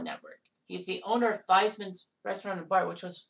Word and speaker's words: Theismann: And that's where they decided to change the pronunciation's last name from Theismann to Theismann, to try to get him the Heisman in his senior campaign.